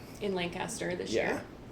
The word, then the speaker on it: Lancaster: My boss's boss boss corrected me. Mhm. not Lancaster. And I'm like, "Yeah, I know I say it wrong, but he's like Lancaster."